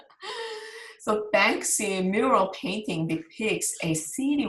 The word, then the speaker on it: Banksy: So, so the Banksy, sorry, I always pronounce his name like Bansky. So Banksy mural painting depicts a